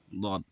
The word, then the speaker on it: ض: দদ, দদ হবে এবং আওয়াজটা সাউন্ড মোটা হবে।